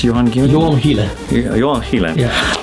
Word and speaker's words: Gielen: How do you pronounce Johan Gielen?